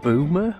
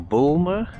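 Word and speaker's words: Boulmer: So we're now in a little tiny fishing village of Boomer or Bulmer. I'm not quite sure how to pronounce it. I think it's Boomer, B-O-U-L-M-E-R.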